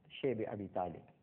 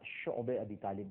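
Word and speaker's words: شعب أبي طالب: اور اس کے بعد شیب ابی طالب، جس کو بعض حضرات شعب ابی طالب بھی کہتے ہیں، لیکن جس کا صحیح تلفظ ہے وہ شعب ابی طالب ہے، ایک گھاٹی تھی، آج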